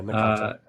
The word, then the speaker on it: Nakata: But so you're you're you're kind of relating to I guess Naka what Nakata I actually forget how you pronounce his name. Yeah, Nakata.